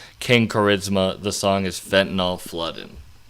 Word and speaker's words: KXNG Charisma: If you want to look this up, it's spelled KXNG Charisma. King Charisma.